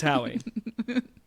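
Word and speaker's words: Howey: years and this the hoe test and uh whether or not crypto should be tested with the hoe test um am I saying it right is it Howie is it hoy it's Howie uh right um a little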